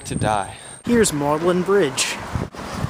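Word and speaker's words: Magdalen: like to die here's mlin Bridge that's uh spelled magdalin pronounced mlin what are you thinking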